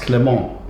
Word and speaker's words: Clément: It comes from the French word Clement, which is pronounced Clément.